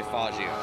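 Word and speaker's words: Faggio: just say it's a fagio okay I'll say fagio how about that that's how it's pronounced I remember there was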